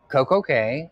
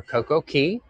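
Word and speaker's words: CocoCay: caribbean's uh private island coco k or coco key however you want to pronounce it um and that island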